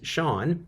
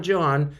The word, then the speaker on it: Sean: he's my son so his name is Sean not John Sean Ross or CN